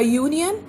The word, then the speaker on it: union: A union again giving us the sound of Y, so it is a union.